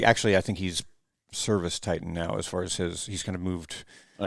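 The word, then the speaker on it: ServiceTitan: Or no, Service Titan. Certain Titan. Service? Dude, I'm getting tongue tied. Service Titan. Yes, as in Titan.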